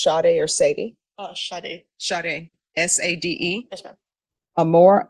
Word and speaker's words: Sade: I don't know if this is pronounced Sade or Sadie. Sade.